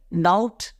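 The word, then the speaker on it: doubt: इसमें क्या होता है इसमें हम बी को नहीं पढ़ रहे डाउट और ट तो इसमें साइलेंट एक्चुअली लास्ट वाला नहीं होता है क्या होता है बी साइलेंट होता है तो यह एक्सेप्शन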